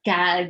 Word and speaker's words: GAD: this event uh a god warning to everyone as they say god which is spelled as gad and stands for gender